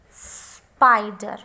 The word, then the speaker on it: spider: One more word I have, spider. Spider. Now check it properly. Where is the stress? Spy. Spider. So this I is long I.